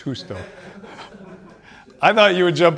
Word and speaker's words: Justo: j s t o That's South American right justo no I'm kidding it's husto I thought you would jump out of your